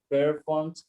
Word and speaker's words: performs: now if your bond performs anywhere i want to hear you play all right let's start from the end it's performs performs and then again their forms performs stressed on forms per